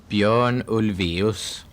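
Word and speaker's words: Björn Ulvaeus: So, if you can give us the definitive pronunciation of your own names so he can do it. Bjorn Ols.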